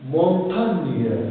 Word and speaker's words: montagne: Alors, car ici, il se prononce NIE.